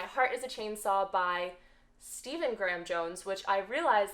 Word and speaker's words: Stephen: is a Chainsaw by Stephen Graham Jones, which I realized that I kept calling him Stefan because I've been watching Vampire Diaries, and this is how Stefan is spelled in the show.